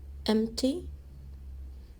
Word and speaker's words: empty: me the nine delta farmland rice cotton wheat empty silent p mt sand dunes sand dunes olives